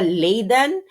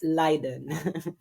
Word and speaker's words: Leiden: It's not Liden again, it's Liden. Liden Liden. Hindi po siya Layiden, it's Liden. Okay. Eh kasi nga nakita nila nagtuturo siya sa Liden um University of Liden ah and doun ako nag-aral.